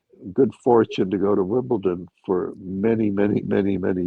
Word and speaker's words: Wimbledon: that actually I've ever heard pronounced Wimbledon with a D correctly cuz if I hear somebody say Wimbleton, I just want to say Why I ought to, you know.